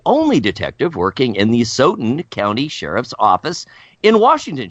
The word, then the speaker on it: Asotin: Nearly 40 years later, Acetin, is that the right? How do we pronounce acetin? It's Asotin. Asotin!